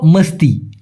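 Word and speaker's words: mesti: আরেকটা হল মস্তি। সঠিক উচ্চারণটা হলো মিষ্টি না ভাই মস্তি মস্তি মানে হচ্ছে অবশ্যই আমি নিজে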